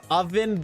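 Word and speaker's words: Ovvin: We have Oven the Swampert, but it's spelled O-V-V-I-N. So it just spelled completely wrong.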